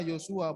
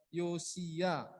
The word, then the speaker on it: Yosia: Tadi si Audi bacanya Yosua, bukan Yosua ya, Yosia.